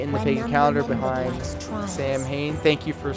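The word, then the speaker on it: Samhain: Beline pronounced Bellatennena is Irish is the second largest holiday in the pagan calendar behind Sam Hayne. Thank you for saying it phonetically. Saw hen which is Halloween the barrier between this world and the other is at its thinnest.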